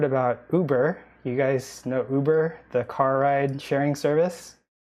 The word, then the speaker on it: Uber: So instead of saying Uber, he calls, and plus there's no sound in Japanese, right? So he says, instead of Uber, he says uba, uba, just like yuba.